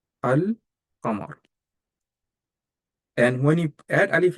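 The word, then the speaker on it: القمر: The name of this huruf comes from these two words, qamar, because when you add alif lam to qamar, you have to pronounce lam. So you say al-qamar, al-qamar.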